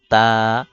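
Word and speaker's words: ت: জিহবার আগা সামনের উপরের দুই দাঁতের গোড়া থেকে তা আর সা উচ্চারণ হবে সামনের উপরের দুই দাঁতের আগা থেকে সা এরপর জিম জিম এরপর হা।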